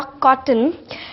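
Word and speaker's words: cotton: में क्या करते हैं जब भी वोव टी या फिर एन के बीच में आए कोई भी वोव टी या फिर एन के बीच में आए तो फिर वो लोग उस वोव को बोलते ही नहीं है जैसे हम जब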